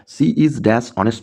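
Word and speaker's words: honest: Friends এখানে এইচ টা actually silent হয়। আর আমরা যে এন ব্যবহার করি এই এন ব্যবহার করা হয় ওয়ার্ডের সাউন্ডের উপর বেস করে। এই সাউন্ডটাকে যদি আমি অনেস্ট না বলে অনেস্ট বলি তাহলে এ লিখতে হবে। কিন্তু এইচটা সাইলেন্ট। এর প্রনান্সিয়েশন হয় এই ও থেকে।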